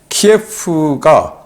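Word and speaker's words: 키이우: 키예프가 곧 점령될 거다. 오데사도 우리 염원이다 라고 이야기를 했어요. 여기는 이제 구소련식 발음, 러시아식으로 키예프라고 하죠. 그래서 곧 우크라이나의 수도 키우도 점령한다 라고 이야기를 하니,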